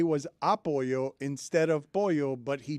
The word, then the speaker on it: apoyo: Apoyo. Come on, dude. He didn't ask for any of this. Put the emphasis on the wrong syllable.